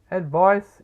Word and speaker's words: advice: Advice is used as a noun. It is never a verb. It rhymes with ice, which is also a noun.